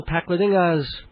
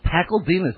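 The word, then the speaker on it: Pakledinaz: Martin Pakledingas, probably mispronouncing that, the Pajama Game. And it's Pakledingas.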